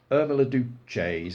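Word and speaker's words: Irma la Douce: Irma Duce, that's how it's pronounced.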